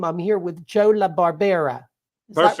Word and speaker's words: La Barbera: me if I don't tell me if I mispronounce your name I'm here with Joe La Barbera is that right perfect I believe it I